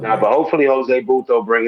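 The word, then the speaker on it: Butto: They put Singer back in, and Peterson will be long relief if anything, or even Bruto. I'm saying his name wrong. Buto. Yeah.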